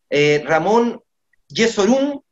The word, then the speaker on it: Ramón Jesurún: rueda definitivamente firmó por la selección de colombia ramón jesurún así se pronuncia no sólo es el presidente de la